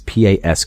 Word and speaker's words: Pasquesi: David Pasquesi, I think is how it's pronounced. It's Pasquesi.